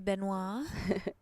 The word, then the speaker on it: Benoit: So saying your last name it is Benoit. Mm-hmm. Okay. Yeah, that's the proper pronunciation. Okay. I never growing up. I just let people say it how they wanted. If they wanted to say Benoit, if they wanted to say Benoit, But since I started playing pool, I just feel like Benoit sounds fancier. It's more memorable.